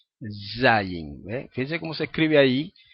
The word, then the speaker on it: zayin: es la eh acá esta letra Z Z Okay que es equivale a la Z en español zayin fíjense Cómo se escribe